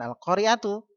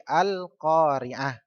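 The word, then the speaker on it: القارعة: Al-Qari'ah, bukan Al-Qari'atu, tapi Al-Qari'ah, dibaca hak.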